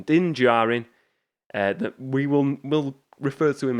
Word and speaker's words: Din Djarin: I always feel like I'm going to butcher that name, but I think that is the correct pronunciation. Din Djarin.